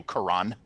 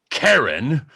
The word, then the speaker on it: Karan: That takes down another one, but there's still 6 more zone leaders, and more of them are arriving to surround you, Karan. It's pronounced Karen, and I want to see the manager!